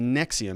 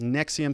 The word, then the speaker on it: NXIVM: she was somebody who was involved in the nexium it's called the nx ivm it's pronounced nexium sex cult and she's going to be sentenced